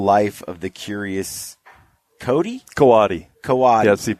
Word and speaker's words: coati: of the curious Cody coati kawase pronounce every it's kind of a I guess it's a Spanish derivation so you pronounce every syllable coati coati and it's Co ATI